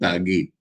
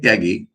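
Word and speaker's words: ত্যাগী: It is then Tagi. Like Tyagi, in Bengali the pronunciation is same, which refers to renunciation.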